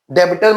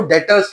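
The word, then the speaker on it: debtors: बीच में बी जो लगा हुआ है वह साइलेंट है। तो हम लिखते हैं डेबिटर्स। डेबिटर्स मत पढ़ना इनको। इसको डेटर्स पढ़ना है।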